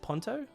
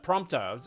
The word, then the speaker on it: Prompto: Is it Ponto? Am I saying it right? It's Pontto, right? I'm I'm Pronto. Prompto. I was saying Ponto.